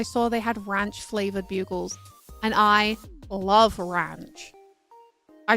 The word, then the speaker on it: Bugles: Buggles. I know these are pronounced bugles, but I think it's funny to call them buggles.